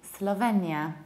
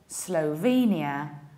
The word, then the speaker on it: Slovenia: Usually, people say Slovenia. In Polish, it's Slovenia. Whereas in English, we say Slovenia, Slovenia. And the American accent, a little bit more closed O, Slovenia, Slovenia.